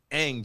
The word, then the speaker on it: Ng: And also shout to the same Marlins who hired Kim Ang? Ang, just like the NG is NG, like, okay. like, It pronounces, like, okay. like bang, take out the BA.